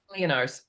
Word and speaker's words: Leonarz: Pronounce it for me again. Leonarz.